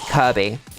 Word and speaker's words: Kirkby: It's spelled Kirkby. K I R K B Y. But everyone pronounces it Kirby, as in our favorite little pink boy who gives you the big suck.